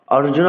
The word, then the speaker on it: অর্জুন: ওম শ্রী পরমাতমানে নমহ শ্রীমদ ভগবত গীতা আথ প্রথম অধ্যায় অর্জুন বিষাদয়োগ আরজুন অনেকে কিন্তু অর্জুন বলে এটি অর্জুন বলতে হবে ধৃত রাষ্ট্র উবাচ ধৃত